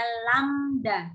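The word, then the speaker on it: lambda: nisada simbol ya timbulnya ini bacanya adalah lamda apa badannya lamda Iya badannya lam dan simbolnya kayak gini ya sebagai panjang gelombang atau dilambangkan dengan lamda jadi setiap katuk Lombang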